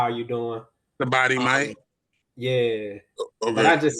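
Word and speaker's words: สบายดีไหม: So you can say "Sabadi Mai." That's like, "How are you doing?" Sabadi Mai.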